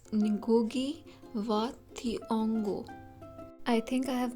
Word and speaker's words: Ngũgĩ wa Thiong'o: of this text also I would like to correct my pronunciation about the author's name it's nugi vongo I think I have